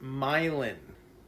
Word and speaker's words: myelin: So, it's actually pronounced myelin with an N at the end, not myelin is composed of 80% lipids or fats and 20% protein.